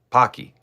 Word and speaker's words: Pocky: It's pronounced Pokey. Pokey short for O. Pocky.